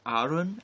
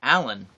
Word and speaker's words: Aaron: hungary they pronounced it arun and i really liked that and then when i lived in japan i didn't use it at all because they pronounced it alan and i actually never